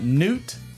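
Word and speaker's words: Knute: up who uh yeah Newt k-n-u-t-e because I'm assuming the K is silent I'm assuming there he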